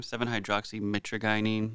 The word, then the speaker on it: 7-hydroxymitragynine: Oh, am I pronouncing it wrong this whole time? 7-hydroxymitragynine. There's an R in there, apparently.